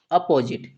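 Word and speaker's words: opposite: टी का उच्चारण टा, लास्ट वाले ई का उच्चारण नहीं करेंगे, तो इस वर्ड को हम क्या पढ़ते हैं, अपोजिट, क्या पढ़ेंगे, अपोजिट पढ़ते हैं।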